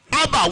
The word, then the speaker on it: Abba: Aleph and Bet is pronounced as Abba when you bring them together, which means daddy.